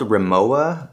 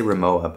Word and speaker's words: Rimowa: guys knew this, but it's spelled Rimowa, but they pronounce it in Germany Rimowa. So a lot of people say Rimowa, but it's actually Rimowa.